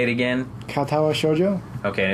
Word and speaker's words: Katawa Shoujo: Katawa Shoujo.